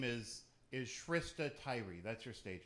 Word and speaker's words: Shrista: went by Tyree because people couldn't say Shrista. They always said Shrista, which is weird because it's spelled just like Krista, just like Trista, and I don't think Kristas and Tristas get called Kristas and Tristas.